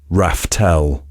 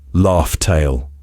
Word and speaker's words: Laugh Tale: in plain sight that we've all been mispronouncing for 20 years. Raftel or Laughtale.